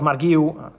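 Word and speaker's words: Marc Guiu: About Marguiu, correct pronunciation, Enzo Maresca already said that at the moment they have no intention to let him go on loan.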